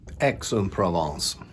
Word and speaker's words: Aix-en-Provence: I just checked the pronunciation too. Aix-en-Provence.